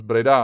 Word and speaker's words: Breda: i complaining i mean who knows that pereida is pronounced as breda another or something like